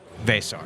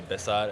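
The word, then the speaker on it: Veesaar: Vesar.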